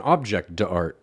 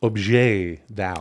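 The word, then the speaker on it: objet d'art: It's pronounced objet d'out.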